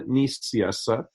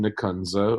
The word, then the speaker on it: Nicieza: It is Fabian Nicieza, but since you are American, you're allowed to pronounce it Fabian Nicieza, whichever.